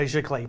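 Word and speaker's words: giclée: paper so these are all printed with a chiclet process right that's g-i-c-l-e-e with an accent on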